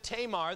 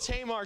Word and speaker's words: Tamar: sister, whose name was Tamar. That's how we pronounce it. It was probably more pronounced Tamar, but we'll go with Tamar because that's how I grew up saying it.